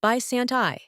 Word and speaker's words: Bysanti: Today, we're going to talk about Bysanti, pronounced Bysanti, a medication recently approved by the FDA on February 20th, 2026.